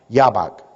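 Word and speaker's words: Jabbok: - it's actually Jay ABB okay but it's pronounced yaw Bock River as their own yet they lacked the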